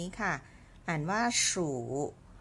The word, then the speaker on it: 属: เรา ค่ะ คือ คำ นี้ ค่ะ อ่าน ว่า สู่ รู้ ไป ดู พินอิน ของ ตัว นี้ ก่อน